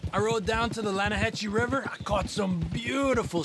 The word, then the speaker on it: Lanahatchee: The other day, I rode down to the Lanahatchee River. I caught some beautiful steelhead trout. You mean the Lanahassee River? No. The Lanahatchee. It runs right near here. Yeah, but it's pronounced Lanahassee.